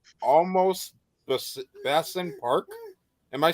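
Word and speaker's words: Olmos: m o s and then B almost s-i-n almost Park yes no they were just pronouncing it wrong no there's a story behind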